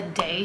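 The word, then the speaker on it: Dae: I love the Day shampoo. It's spelled D-A-E and it's by an initial like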